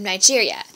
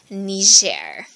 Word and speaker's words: Niger: to the north of Nigeria it is not Niger even though it's Southern neighbors Nigeria it's actually ner sounds French for the last goof